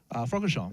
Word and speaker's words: Francorchamps: Francorchamps.